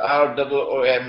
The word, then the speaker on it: روم: It is pronounced as R-O-O-M, Room, but the Arabic word Room is, it describes Eastern Christianity.